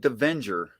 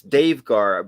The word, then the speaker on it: Davegar: I always want to pronounce that Davenger. Is that the wrong way to say it? Davegar? It's Davegar.